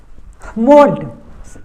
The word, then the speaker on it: moult: अब यहाँ पे देखिए एक और एक वर्ड है, लास्ट में बता देते हैं यहाँ पे MOULT, इसको क्या पढ़ेंगे मोल्ट, वही उच्चारण लगेगा मोल्ट।